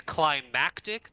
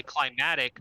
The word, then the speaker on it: climactic: is pronounced girf nachos it's climactic there's an extra c in there if you say climatic that's relating to the climate climactic pretty sure you're